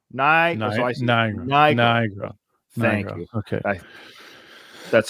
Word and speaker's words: Nigro: I don't think it's a hard I, so I'm not going to try that one. It's either. So it's Nigro. Nigro.